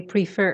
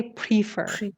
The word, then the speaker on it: prefer: syllable you always say prefer that's wrong prefer prefer put the stress on the second syllable okay now peso back